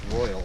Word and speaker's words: Royale: the rain Oh royal we've been calling up wrong it's royal its royal even though it's spelled Royale so we just got our permits that took another 15-20 minutes so it's about 1 p.m.